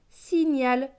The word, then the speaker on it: signal: Avec AL, AL se prononce al. Donc gne et al, nial. Donc ce mot va se lire si, nial, signal, le signal.